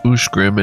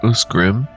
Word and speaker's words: Ushgrim: Yep, is Ushgrim and not Usgrim.